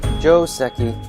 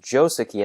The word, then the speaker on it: joseki: word on the pronunciation technically it should be pronounced joseki as it is a loan word from japanese however most english-speaking go players say joseki so i guess either